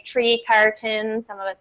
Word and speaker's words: Trecartin: Trecartin. One syllable? Trecartin. All right. Yeah. Trecartin. Oh, yeah. Oh, yeah. See, that's the most common one I get is the French. It's actually a British origins.